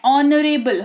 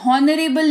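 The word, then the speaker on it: honorable: ये है ऑनरेबल, हॉनरेबल नहीं, है ना, कहते हैं ना ऑनरेबल प्राइम मिनिस्टर, है ना, तो हॉनरेबल नहीं कहेंगे, हम लोग कहेंगे ऑनरेबल प्राइम मिनिस्टर या ऑनरेबल। ऑनरेबल एच जो है वो साइलेंट होता है, ठीक है।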